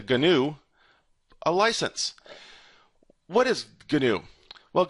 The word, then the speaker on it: GNU: A lot of it is released under the new or as I like to pronounce it the GNU license.